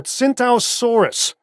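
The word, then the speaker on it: Tsintaosaurus: It's called a Centausaurus. The T is silent, like the P in swimming.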